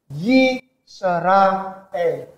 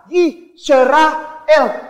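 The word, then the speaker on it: ישראל: Yisrael. Ini bacanya Yisrael. Kenapa Ustadz kayak pisah-pisah? Yisrael. Karena Israel itu artinya ada.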